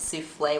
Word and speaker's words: Sufei: When I usually introduce myself, they don't really know how to pronounce souffle, so I tell them it's souffle without the L, even though I'm not French.